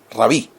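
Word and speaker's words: רבי: Se lee rabí.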